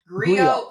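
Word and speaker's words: griot: Go soul. Go. Um, yeah. Go. Yeah. You don't even pronounce the T.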